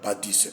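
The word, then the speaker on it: Badie: est il excellent Bernard Badi je rectifie parce que dans mes précédentes vidéos je j'ai mal prononcé son nom scientifique son nom c'est Bernard Padis c'est pas un grand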